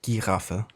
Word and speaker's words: Giraffe: Yeah, in German it would be Giraffe. So still pretty much written the same as giraffe, just pronounced a bit differently.